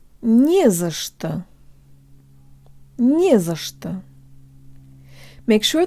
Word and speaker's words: не за что: You can make the za and что syllables sound Russian by making them much shorter and by using schwa vowels for both the a and the o.